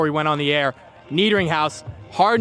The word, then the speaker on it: Niederinghaus: I've had like Niedring. I don't know where you get the from, but yeah, I've had all sorts of pronunciations over the years.